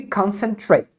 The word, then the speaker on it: concentrate: caso especial é a a palavra concentrate e é pronunciada sempre concentrate com o Eight no final e ela pode significar